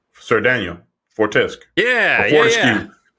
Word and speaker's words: Fortesque: Fortesque. Sir Daniel Fortesque. Fortescue. Fortescue. That's how they pronounce his name.